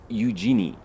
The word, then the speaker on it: Eugenie: Eugenie, that's how you pronounce it.